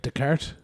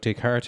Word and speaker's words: Descartes: And then it was Descartes, is that how you say his name? Descartes, yeah.